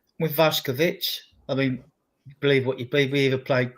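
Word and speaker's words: Vušković: Pronounced Vash Kovic actually. Vash, believe it or not, for those that care about those sort of things.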